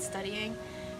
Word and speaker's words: StudyIGN: That's how her username is spelled, but I think she pronounces it studying.